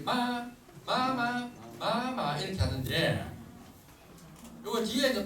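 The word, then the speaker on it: 妈妈: 솔, 마 이렇게 중국 아이들이 엄마 부를 때 마마 이렇게 하는데 요거 뒤에 이제 똑같은 글자가 두 개가 요래 있다. 요래 하면은 뒤에 거는 솔로 발음하는 것이 아니고 짧고 가볍게 발음을 한다.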